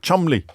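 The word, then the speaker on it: Cholmondeley: completely absurd ways often their own Nam like Chumley which is pronounced CH mondle or beum BP which is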